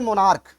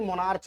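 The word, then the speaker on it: monarch: इस जगह पे देखिए मोनार्क, यहाँ जो सी एच है उसका प्रोनाउंसिएशन का आ रहा है, ना कि मोनार्च आ रहा है।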